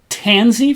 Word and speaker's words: Tansy: And these purple flowers are called Tansy Facilia. So like a pansy, except with a T, and Facilia is as best as I can pronounce that word.